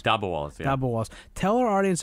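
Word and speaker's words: dabbawalas: Talk to our audience about, how do they pronounce them? Dabwalas? Dabwalas, yeah.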